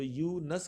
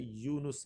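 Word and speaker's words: یونس: हजरत यूनुस अल सलाम हम आमतौर पर जब बोलते यूनुस तो यस कहते हैं तो यह यस नहीं है बल्कि यह लफ जो है यूनुस है तो यह क्या है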